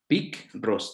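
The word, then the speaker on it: πικρός: otra que speak rosso peek ros también con cara y acento en la o y esta palabra picross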